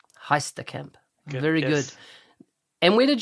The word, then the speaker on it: Heisterkamp: you made already it's fantastic now did i pronounce your last name correctly how do you say your last name it is heistacamp heistercamp very good and where did your twitter handle